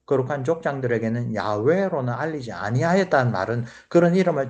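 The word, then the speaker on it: יהוה: 우리 상식적으로 여호와라고 번역된 이 발음은 틀린 발음입니다.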